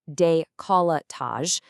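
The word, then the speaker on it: décolletage: A typical treatment for the face, neck, and decolletage, which is pronounced deolatage, takes about 45 to 60 minutes.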